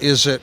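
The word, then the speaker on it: Izit: okay and they produce a product called is it leather that's spelled i-z-i-t but it's a play on words is it leather yeah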